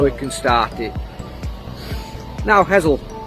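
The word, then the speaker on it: Hessle: Fantastic views of the Humber Bridge in the background and the foreshore here at Hessel, or Hessel as the locals pronounce it.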